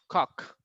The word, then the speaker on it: cock: Just feel the difference when you said Coke and when you said cock. There's a difference, right? Coke and cock. It's two different things and way different pronunciation.